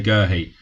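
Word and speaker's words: Guéhi: say, I think it's Gerhi. And then you hear the commentators on the telly say Gerhi. So I'm going to say Gerhi because more people say it, really. Not because I think it's right. It's spelt Guehi. Why can't we say Guehi?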